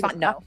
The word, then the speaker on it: Fontenot: I know it's Fontenot. I hate when people mispronounce that.